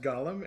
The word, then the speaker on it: Gollum: thing, which is that I believe that the creature from Lord of the Rings Mm-hmm. and the Jewish mythological creature Mm-hmm. should be pronounced differently. I think Agreed. Gollum from Lord of the Rings should be pronounced Gollum, and I think the